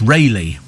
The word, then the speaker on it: Rayleigh: When somebody said to me, how do you pronounce Raleigh in Essex? It's Rayleigh.